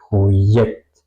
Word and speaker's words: Projekt: Ya, ya, ya, Projekt, Projekt, ya, Projekt. Suena un poco como yes en inglés, ¿ok?